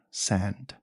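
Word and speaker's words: Sande: his name Roger sand his name was Roger sand with a silent E okay so 10 you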